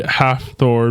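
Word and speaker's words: Hafthor: His name's literally half Thor Bjornson. Oh. Oh. So that's how you pronounce it.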